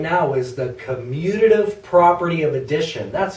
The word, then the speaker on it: commutative: right now is the commutative property of addition that's a huge word commutative commutative four syllables my goodness and basically what